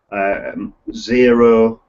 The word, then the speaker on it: Xero: And so people like companies like Free Agent, Xero, which is spelled with an X, it'll be in